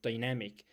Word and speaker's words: dynamic: Now, let's go for the second the fourth word, dynamic. Dynamic the stress in the second syllable, okay?